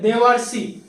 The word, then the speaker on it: देवर्षि: लिखे हुए, तो नहीं, देखिए ध्यान से आप प्रोनाउंसिएशन कीजिए, इसका उच्चारण कीजिएगा देवर्षि, देव और अर्षि, और पहले आ रहा है तब जाके स आ रहा है, यानी पहले हमारा अर की मात्रा आ रही है इसलिए देवर्षि होगा, ना कि यहाँ पर लास्ट